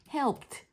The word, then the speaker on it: helped: 요런 발음으로 끝날 때이가 나오면일 때는 얘를 발음을 트 발음으로 해요. 그래서이 발음으로 하시면 안 되고 talk크드키드 아니에요. talked helped 이렇게 발음하시는게 맞습니다.